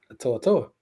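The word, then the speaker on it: To'oTo'o: to to to yes we gotta say it correctly to to ain't no we we were we were always saying it right no it's Toto it's somebody on the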